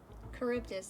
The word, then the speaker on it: Charybdis: Charybdis, that's how it's pronounced, okay.